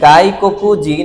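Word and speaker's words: 外国人: সোতর কাঞ্জি আসছে। যার উচ্চারণ এখানে হইছে গাই। কুনির কাঞ্জি আসছে যার উচ্চারণ হইছে এখানে ককু আর হিতর কাঞ্জি আসছে যার উচ্চারণ এখানে হচ্ছে জিন তার মানে এখানে গাই ককু জিন এই পুরা উচ্চারণটাই হচ্ছে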